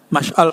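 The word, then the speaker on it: مشعل: Ya, Mash'al Pak Mash'al bacanya itu ya.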